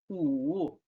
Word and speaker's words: 五: Okay, so number 5, how to pronounce it? 五. Read after me. 5, 五.